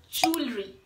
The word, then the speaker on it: jewelry: wrong pronunciations for the word and the right pronunciation is jewelry yes so next time you are there to